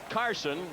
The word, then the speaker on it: Carlson: There's Carson. His name spelled Carlson, but he prefers not to pronounce the L in his first name.